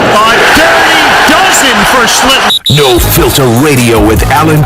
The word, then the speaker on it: Schlittler: not every day you see a kid like Schlittler. I did pronounce that correct, right? No. How do you pronounce Close. Schlittler.